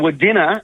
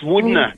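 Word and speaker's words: Wudinna: in a little town they were calling W dinner it's woodner guys oh my gosh oh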